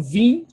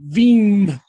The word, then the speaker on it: vim: Eu vim. Ah, ok. Vi. Outra coisa, gente. Em português, o M final não é pronunciado como M em espanhol, né? Não falamos vim. Não. Falamos vim, com N.